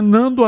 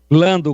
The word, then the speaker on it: Lando: É Lando ou é Nando? A sua pronúncia não tá saindo legal, tigrão. Lando com L.